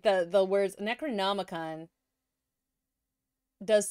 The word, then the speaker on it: Necronomicon: The Necromicon? He's talking about the Necronomicon, which is a fictitious ancient book of the dead. If he is talking about what I think he is and just saying it wrong...